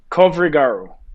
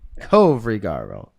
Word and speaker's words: Covrigaru: It's pronounced just like it's spelled. There's no magic potion here to this name. Covrigaru. Close enough. No. Close It's enough. a new. You say it. Kovrigaru. Covrigaru.